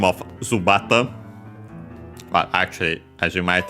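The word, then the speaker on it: ズバット: And yeah, there it there's the term zubat in uh Japanese. Uh the accent should be on the bar.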